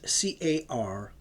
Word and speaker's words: Caria: That's spelled C-A-R-I-A, Caria, and Ionia, before ensuing into a gulf of the sea between Priene and Miletus.